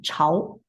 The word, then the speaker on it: 潮: Pronunciation for this one, when it means wet, wetness, is 潮.